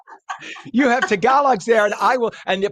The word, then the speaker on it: Tagalog: And by the way, I was corrected. We say Tagalog. Friends of mine from the Philippines say they're called Tagalogs, and I'm like, okay. Apparently that's how you say it.